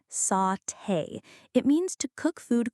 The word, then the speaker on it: sauté: Another great word, sauté. That's pronounced sauté.